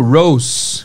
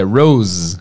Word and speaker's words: rose: Eu tava pronunciando rosa como rose, com som de S. Vacilei, é com som de Z. É rose, com Z, tá?